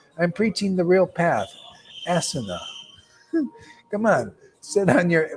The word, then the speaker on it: asana: It's actually the pronunciation is asana.